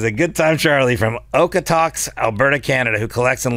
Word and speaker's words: Okotoks: How do you say? Is it Okotoks? Is that where you're from? It's Okotoks. Okotoks, Alberta, Canada.